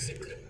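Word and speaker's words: ज़िक्र: और इसकी एक्चुअली जो प्रोनाउंसिएशन होती है वो होती है जिक्र, जो एक्चुअली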